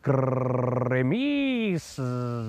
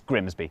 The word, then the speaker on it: Grimsby: But what if we told you it was pronounced Grimis? Hey! We'd be lying, it's Grimsby.